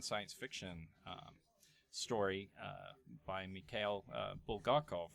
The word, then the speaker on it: Bulgakov: on a Russian science fiction story by Mikhail Bulgakov, right?